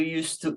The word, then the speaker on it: used to: So in past tense, we pronounce it with T at the end.